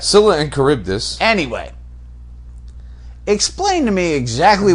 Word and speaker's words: Charybdis: In Greek, the CH is always K, just like Italian.